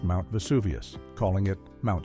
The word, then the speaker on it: Vesuvius: When Gloria gives her answer about the volcano that destroyed Pompeii, Perez accidentally mispronounced Mount Vesuvius, calling it Mount Suvius instead.